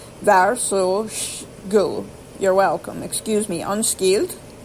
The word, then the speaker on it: varsågod: Is pronounced go, G-O-O. Varsågod.